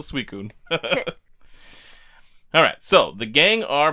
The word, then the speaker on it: Suicune: What's interesting here is that for Ho-Oh, the Bell's Toll doesn't mention Suicune, but we have Suicune spelled different than how we spell it for the English games, but it's still Suicune.